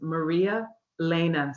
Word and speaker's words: Maria Lena: So the correct the correct way to say my name is Maria Lena. So it's two names in one.